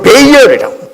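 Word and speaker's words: Baal: 자신들의 욕심을 따라서 지금 바알, 영어 발음으로는 베이얼이라고 바알을 지금 섬기고 있는 것입니다.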